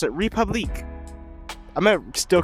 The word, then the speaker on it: Republique: But since I have so much resentment for this very French sounding name, I am instead going to pronounce it Republicqua.